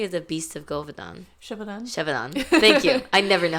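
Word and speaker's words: Gévaudan: Shevadon. Thank you. I never know how to pronounce that.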